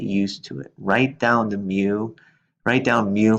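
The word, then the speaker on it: μ: The population mean is a Greek letter which is pronounced mu. It's sort of like an mu, so pronounce it as mu. And it's like the Greek letter that makes the M sound.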